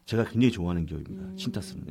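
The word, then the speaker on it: Cintas: 14번째 기업인데 심벌은 CTAS고요. 네. 신타스라고 읽었습니다. 신타스. 네.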